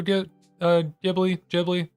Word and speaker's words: Ghibli: Ghibli is closer to the Japanese pronunciation.